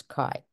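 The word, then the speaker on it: chi: letter Kai s so Greek letter chai pronounce Kai now Kos variable cannot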